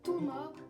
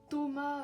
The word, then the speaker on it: Toma: Je sais plus s'il y a un S, mais en tout cas c'est Toma, c'est pas Thomas avec un H, O, M, A, S.